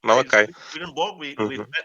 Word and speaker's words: Malachi: children of Levi I think in English it's pronounced Malachi Malachi Malaki malakians I think yeah I heard like Molokai okay Malachi before and I told you that you shouldn't